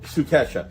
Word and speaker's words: Sukesha: So one of the things real quick is last week we had Sukasha here. Did I pronounce it right, Amy? Sukesha or Sukesha. Sukesha.